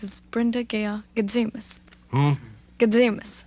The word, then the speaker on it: Gatzimos: Gadzimus. Spell it. Gatzimos. Gadzimus. That's Greek. Brenda Gayle Gadzimus.